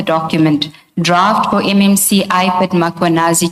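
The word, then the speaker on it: Mkhwanazi: Do you see the title of the document draft for MMC iPad Makanazi just as you pronounce his name Makuanazi with the A.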